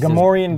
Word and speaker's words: Gamorrean: Here's some, what do you pronounce Gamorrean guards. Gamorrean guards, that's it.